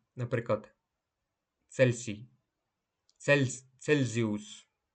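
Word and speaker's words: Celsius: співати знген 26те правило німецька буква Ц читається як це перед голосними е та І наприклад Цельсій цель цельзіус в інших випадках вимовляється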